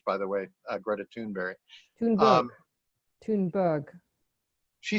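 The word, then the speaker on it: Thunberg: said earlier uh going to see uh greta tuneberry which is the correct pronunciation of her name in swedish by the way uh greta toonberry she said it says it tune berry with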